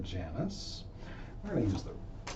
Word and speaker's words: Janus: I'm calling it the Janus spread, or the Janus spread, depending on how you want to pronounce it. I usually say Janus.